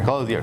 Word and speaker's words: Clothier: i butchered it again he said don't use the french word version close the a you said clothing okay i got it right i'll get it right here close here yeah paul i go